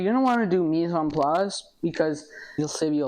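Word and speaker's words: mise en place: So, I I call it mison plus rhymes with grug. Misum plas just things in place.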